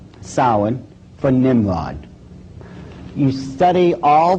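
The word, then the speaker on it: Samhain: as if it's saying Sam hayan or something like that no no no no this is properly pronounced in the ancient Gaelic as sa sin according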